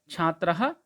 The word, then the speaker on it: छात्रः: का प्रथमा विभक्ति में छात्रः, छात्रौ, छात्राः, इसमें सभी में छात्र ही है। एक्स्ट्रा आपको दिखाई दे रहा है एक वचन में विसर्ग लगा है, जिसको हम अह उच्चारण करते हैं, छात्रः।